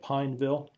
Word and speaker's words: Pineville: And Pike, am I saying it right? Pineville. Yes, sir, like the tree.